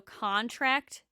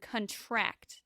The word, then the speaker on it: contract: of speech it is stress on the first syllable is a noun and stress on the last syllable is a verb so contract and contract whoa contract is a